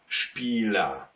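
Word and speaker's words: Spieler: have for example see i don't pronounce are quite there it's somewhat of an ah so spiela or um and for both here spiela and zenger the singer the e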